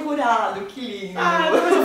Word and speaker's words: Jurado: Ai, o Jurado, que lindo. Ai, depois eu falei com sotaque. A pronúncia certa, né?